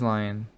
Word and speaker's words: Lyon: I enjoyed that cause what happened was I was named Adam Lyons, and he got I think it's Lion, forgot, but it's spelled Lyon, whereas lions like the animal is Lions.